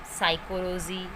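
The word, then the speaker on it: psychology: से शुरू होने वाले वर्ड में पी साइलेंट रहता है। For example साइकोलॉजी, psychiatrist.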